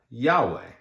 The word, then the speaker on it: Yahweh: And what happened is that when the Bible was being translated for the Western world, they added some vowels so that we could have a pronunciation. So we now have Yahweh.